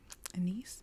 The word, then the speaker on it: anise: Infuse it with um anise Anis whatever your Regional pronunciation is uh You' got to